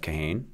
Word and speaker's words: Kahane: And the firm down in Calgary is headed by Jeff Kahane. So that's how he pronounces his name, so that's how we say it.